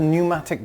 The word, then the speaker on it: pneumatic: It's called a pneumatic drill. I think the P is silent.